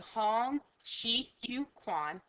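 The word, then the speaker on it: Hong Xiuquan: Now, I listen to many things of how to make sure I'm pronouncing this correctly, and this is the best interpretation you're going to get. So Hong Shi Yu Quan actually claims to be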